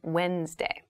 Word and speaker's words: Wednesday: the week but keep in mind this is pronounced wednesday there's a d there but we don't say wednesday we say wednesday wednesday the 18th wednesday the 18th wednesday the